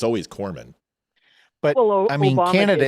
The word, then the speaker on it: corpsman: So, and it's the same as corpsman. That's fair. You don't pronounce the P, you just take the P Yeah, out.